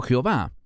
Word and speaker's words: Jehová: No será hasta el tiempo de Moisés que Dios divulgará su nombre formal y personal, Yud-Hei Vav-Hei, que yo pronuncio como Yehove, otros pronuncian como Yahweh o Jehová.